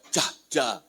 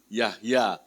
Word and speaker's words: Jahja: adalah ejaan lama ya orang panggil saya Jahja ya padahal yang dibacanya ye Yahya kalau nama barunya di